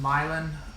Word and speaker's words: Mylan: It's pronounced Mylan. The I sound is pronounced like a Y.